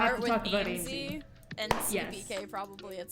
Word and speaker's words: Aimsey: we gotta start with I finally know how to AMZ. say that, because I was a bit confused on how you pronounce that. And then I watched Rumby's stream, and he's just saying AMZ like 20 times, and I'm like, okay, I know how to pronounce that now.